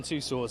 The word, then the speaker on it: Tussauds: I say Madame Tussauds, that's because I'm from the UK, but I mean... Two swords, like two swords?